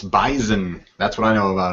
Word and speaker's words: Bison: It's not pronounced with an S. It's Bison.